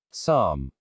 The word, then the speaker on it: psalm: hull who whom whose when p is silent psalm psychic pterodactyl psychology receipt